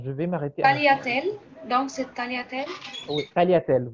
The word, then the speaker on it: tagliatelle: Le mot tagliatelle, par exemple, s'écrit depuis Tagliatelle. Le G ne bouge tagliatelle. pas. On ne lit pas le G, on ne dit Non, pas non, le on G.